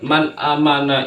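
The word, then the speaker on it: مَنْ آمَنَ: maka dibacanya izhar jelas Man amana tidak boleh dibaca Mang atau men terlalu lama enggak boleh Man amana dibaca jelas karena ada nun mati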